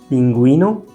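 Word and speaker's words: pingüino: with the diaresis, then the U is actually pronounced. For example, pinguino, vergüenza.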